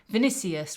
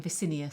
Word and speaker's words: Vinicius: I keep getting the N and the C mixed up, and it might even be rude, I don't know. Vinicius rather than Vicinius.